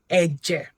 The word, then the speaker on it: ẹ̀jẹ̀: This is pronounced ẹ̀jẹ̀. Ẹ̀jẹ̀ means blood. Ẹ̀jẹ̀ means blood. Ẹ̀jẹ̀. So that it has this mark, so it is a dodo. Ẹ̀jẹ̀, dodo. Again, remember, whenever you see this mark, it's a low tone sound.